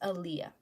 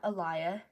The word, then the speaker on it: Aaliyah: I'm gonna tell you, it's pronounced Aaliyah, not Aliyah, not Ilya, or like Alia, or Aaliyah, like Aaliyah. That's it, Aaliyah.